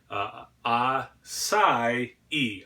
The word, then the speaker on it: acai: YouTube video I am gonna pronounce this correctly ass ie ah sigh e ass ie Bowl if